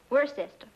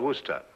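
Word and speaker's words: Worcester: But it's spelled W O R C E S T E R. We're sister. Oh, yes, I see. Yes. Lord Worster.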